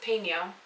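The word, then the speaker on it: jalapeño: Peno. Jalapeno. I always got yelled at for saying pino. It's peno. Like hello.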